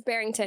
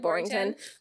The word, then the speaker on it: Barrington: It's Barrington, but I call it Borrington.